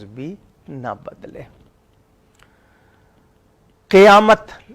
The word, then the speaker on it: قیامت: تلفظ بھی نہ بدلے۔ قیامت اکثر لوگ قاف کے زبر سے پڑھتے ہیں، قاف کا زیر ہے، قیامت، قیامت نہیں ہے، قیامت ہے، جہاں سب نے کھڑے